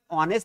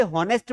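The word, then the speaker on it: honest: तो यहां पर कुछ लोग इसे हॉनेस्ट पढ़ते हैं, which is wrong. Because why here? क्योंकि ये एच है, ये साइलेंट है।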